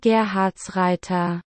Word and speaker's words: Gerhartsreiter: Empecemos por decir que me van a tener que disculpar que no diga su apellido, pero es que se pronuncia... Christian Gerhardsreiter.